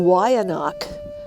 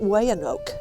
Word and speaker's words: Weyanoke: the Y anak and that's how you pronounce it not way an oak the y anot people